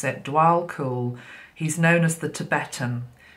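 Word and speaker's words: Djwal Khul: mysticism so it doesn't surprise me um so dual cool is how it says to pronounce it dual cool he's known as the tibetan remember this is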